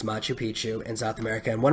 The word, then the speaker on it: Machu Picchu: I didn't look up how to spell it. I thought it was Manchu, but it's Machu Picchu in South America.